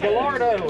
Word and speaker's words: Gallardo: Gallardo.